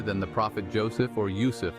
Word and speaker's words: Yusuf: the Prophet Joseph or Yousef as pronounced in Semitic languages